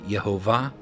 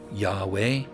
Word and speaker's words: Yahweh: sound came from, like Yehovah, or people would say Yahweh. That W sound is the U, but the U coming after the Hey, you get the Yahweh W sound, and I'll show you that here in just a second.